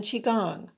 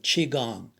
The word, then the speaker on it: qigong: recommend three types of movement stretching walking in qigong doing this trio every day is a life